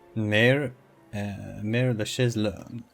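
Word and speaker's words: Mère-Lachaise: Mare la Chaise-Longue. Looks like I was pronouncing it right all this time.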